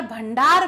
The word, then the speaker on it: भंडार: सकते हैं यहां देखिए यहां पर जो उच्चारण है वो किसका है आना का है ये ना नहीं है ये आना का उच्चारण है भंडार इस तरीके से